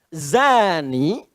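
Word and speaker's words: زاني: Nah, sekarang persoalannya zani itu pezina laki-laki. Zani nih. Zani, bezina laki-laki. Awas hati-hati. Hati-hati. Zai. Dza. Bukan dza. Ada da, ada dza ada za.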